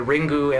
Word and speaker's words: Ringu: Um now these are called the Ringu Anthology of Terror because they're just going by the Japanese pronunciation just to differentiate between this and the American release.